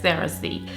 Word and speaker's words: Cerasee: this, and it was something called Cerasee, but here we pronounce it locally as Cerasee.